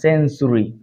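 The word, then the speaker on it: century: দেখতেছি আমরা ইউ আছে টি এর পরে ইউ থাকলে আমরা ট উচ্চারণ করবো না এখানে চ উচ্চারণ করব ফার্নিচার লেকচার সেঞ্চুরি এগুলো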